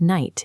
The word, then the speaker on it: night: In English, a word like night is difficult because of its silent letters. We have to cross out the K, G, and H just to find the spoken word.